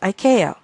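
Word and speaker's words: ICAO: Aviation organization or iao usually pronounced Iko this organization has used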